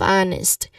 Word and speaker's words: honest: So you stress also on the first syllable of honest.